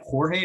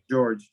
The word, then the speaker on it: George: Is it Jorge or is it George Rubio? Yes, George.